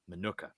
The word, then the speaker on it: Minooka: How do you pronounce the name of your town? Minooka. Minooka.